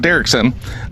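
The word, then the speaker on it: Derrickson: interesting thing Scott uh derkson is that how you pronounce his last name oh I did okay cool Scott derkson um this is what I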